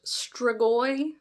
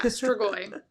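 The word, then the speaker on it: strigoi: I've heard it pronounced stragoi. Don't ask me how or when. But yeah, stragoi.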